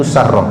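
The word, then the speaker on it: Sarah: Ini kalau bacanya itu Sarrah. Sarrah itu sin ra tasdid, ada tak marbutonya Sarrah.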